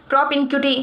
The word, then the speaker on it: propinquity: Noun की तरह इसका यूज है प्रोपिनक्यूटी, इसका प्रोनाउंसिएशन है।